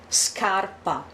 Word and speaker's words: scarpa: Scarpa.